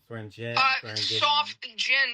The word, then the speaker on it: Swearingen: to steer them away from the the wrong pronunciation that woo swagen right I've probably said it wrong I've swear swearing off Jen.